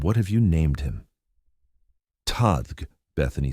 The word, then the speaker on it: Tadhg: "It's pronounced like tiger without the ear," Bethany explained patiently.